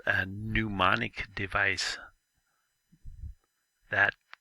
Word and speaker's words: mnemonic: words it's called a mnemonic device that capital m right there is silent it just starts with an in mnemonic means to remember things